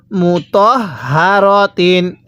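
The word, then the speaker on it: مُطَهَّرَاتٍ: সাথে পড়ুন মুত হারতিন আমি কিন্তু হা টা উচ্চারণের সময় মুখ দিয়ে আওয়াজ করছি অনেকেই মুত হারতিন পড়ি এরকম ভাবে পড়লে এই হাটা সহি শুদ্ধ উচ্চারণ হবে না আমার সাথে পড়ুন মুতাহারাতিন আরেকবার পড়ুন মুতাহারাতিন এরকম ভাবে পড়তে হবে এরপরে আমার সাথে পড়ুন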